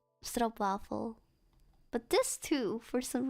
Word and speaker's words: stroopwafel: Don't say stroopwafel, that's wrong. Stroop. Oh. Wafel, not waffle. Wafel. Big A. Ah. Like opening your mouth for both vowels. Stroopwafel. Say it correctly. Don't say stroopwafel.